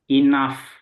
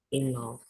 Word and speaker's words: enough: now ini bacanya gimana enough enough enough nah GH ini u GH ini dibaca AF jadi kayak gitu ya